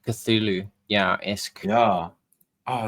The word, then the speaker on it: Cthulhu: Some people would even say Tulu. By the way. Interesting. Yeah, I've heard that pronunciation. I don't know. Cthulhu, I say it how I see it.